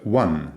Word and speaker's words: one: The word one, for instance, which, by the way, rhymes with bun, done, sun, fun, and definitely not with con and don, actually begins with a consonant.